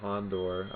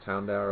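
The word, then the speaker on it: Houndour: for Cubone that Cubone let's see Hond I pronounced that hondor I think that's correct Hound Hound hour Hound hour okay see there we go apparently I do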